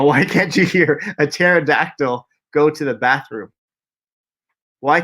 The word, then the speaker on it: pterodactyl: got the answer right because the P is silent if you know how to spell pterodactyl it's actually P T